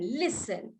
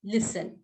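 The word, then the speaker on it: listen: एस टी आई एन यहां पर एस है ये साइलेंट है तो इसीलिए हम सॉरी लिसन जो टी है वो साइलेंट है तो हम क्या करेंगे इसको लिसन कहेंगे लिसन बोलेंगे ठीक है ऐसे प्रोनाउंस करते हैं इसको है वैसे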